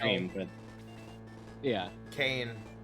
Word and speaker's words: Kane: Well, no, actually it's spelled K-A-N-E, but in this battle, it is like the wrestler.